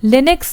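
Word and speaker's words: Linux: देखो यहाँ पे है लिनक्स प्रोनाउंस्ड लिनक्स।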